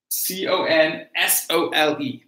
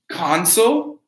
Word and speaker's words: console: So the next we have C-O-N-S-O-L-E. That's either console or console. All right? So we have the noun, console, or the verb, console, right?